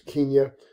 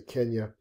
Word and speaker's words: Kenya: There's Kenya, or we Americans say Kenya.